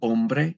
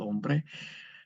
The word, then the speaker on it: hombre: Man is el hombre, and we never pronounce the H in Spanish, el hombre.